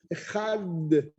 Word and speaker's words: Echad: Si tu dis de, c'est pas bon. Echad, de. Ce n'est pas le de là. Il faut le dire. Echad.